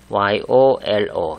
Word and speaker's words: YOLO: 여기 이니셜 YOLO, YOLO라고 발음을 하죠.